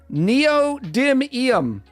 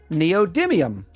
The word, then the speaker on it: neodymium: not strong enough all right Leaf's got the pronunciation and um titiana titiana titiana neodymium neodymium oh and then I still don't know how